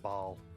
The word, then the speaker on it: Baal: Mike is pronounced Baal.